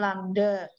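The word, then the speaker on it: λ: lambda atau panjang gelombang ini bacanya lambda panjang gelombang satu Langga itu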